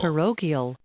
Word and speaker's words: parochial: parochial parochial That is 100% correct.